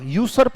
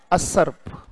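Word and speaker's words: usurp: ये पढ़ा जाएगा अ, यूसर्प नहीं पढ़ना बेटा इसको, इसका उच्चारण क्या है? असर्प।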